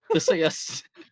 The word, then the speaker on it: Theseus: Theseus.